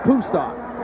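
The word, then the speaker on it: Kustok: the line judge rolled it down so Zach kusto who has done an outstanding job as the quarterback transfer from Notre Dame is from Carl Samberg High School in Orland Park Illinois his name is pronounced kto and he was an outstanding basketball player in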